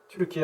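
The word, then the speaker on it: Türkiye: 얘기를 거기서 처음 들었습니다 그 건축물은 루키에 지금은 트루키 아고 발음하는 어 그곳에 어느 곳에 있다는데요 건축물이 만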